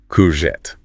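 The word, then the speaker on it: courgette: So, the correct way is to stress the end. Corette. Corette. A little lift at the end.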